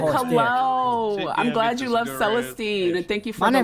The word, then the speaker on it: Celestine: My name's Celestine. Well, how do I? Thank you, How thank do you you. spell that? C as in cat. Elestine. Kind of like celestial. Oh, Celestine.